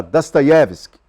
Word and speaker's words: Dostoiévski: chamada Fyodor Dostoiévski, que o professor que morou em Moscou fala Dostoiévski. Ele tem uma pronúncia diferenciada, uma pronúncia própria do russo.